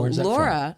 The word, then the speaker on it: Lora: lindquist yes okay so laura laura actually is phonetic l-o-r-a so when you texted me you spelled my name wrong which is a very common mistake so it's actually l-o-r-a well thank you for